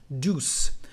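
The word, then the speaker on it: douce: the feminine form is deuce the same pronunciation as before but with the letter c deuce so this one or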